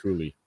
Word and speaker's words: Cooley: Apparently, it's pronounced Cooley.